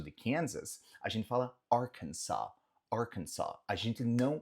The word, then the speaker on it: Arkansas: A gente fala, no anterior a gente falou Kansas, Kansas. Aqui é Arkansas, não tem o som de Z.